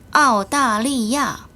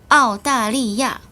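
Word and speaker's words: 澳大利亚: 모두 다 사성이네요. 아오다리야. 다시 한번 아오다리야.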